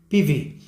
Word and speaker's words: PIWI: Se escriben Piwi con W, pero se leen Piwi. Es un acrónimo, un nombre alemán.